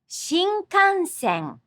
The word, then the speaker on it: Shinkansen: The sound appears three times in Shinkansen. Shinkansen.